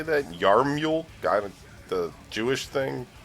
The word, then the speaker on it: yarmulke: Yarmule? The Jewish thing? Yarmulke? It's not how it's spelled, I guess. It looks like it's spelled Yamaluke.